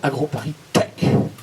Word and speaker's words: AgroParisTech: Il a mal prononcé. Hein. Ça s'appelle AgroParisTech.